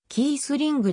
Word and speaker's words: Kießling: フォワード元ドイツ代表制はキースリンクと表記される場合もあるが実際のドイツ語の発音に近いのはケースリングであるレバークーゼンでプレー